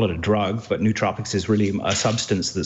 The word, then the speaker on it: nootropics: And also nootropics, yeah. Yeah. Nootropics, is that how you pronounce it?